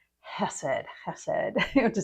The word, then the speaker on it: Hesed: And those of you who like to take notes, you would transcribe it as Hesed, Hesed. And that's how I'll be pronouncing it.